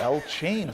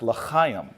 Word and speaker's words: L'chaim: And somebody says, Cory, it's pronounced L'chaim. And I'm like, is something wrong with your throat? They're like, no, it's L'chaim.